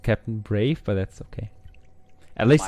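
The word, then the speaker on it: Brawe: they pronounce it as Brave it looks like a uh like a w one yeah it's a w yeah but they pronounce it Brave I didn't make the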